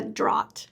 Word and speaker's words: Draht: Today I'm sitting down with Sarah Draht.